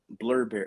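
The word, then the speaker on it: Blubrry: and feed press libson blurberry oh was it like blueberry it's spelled be uh b u b r r y you have Amazon you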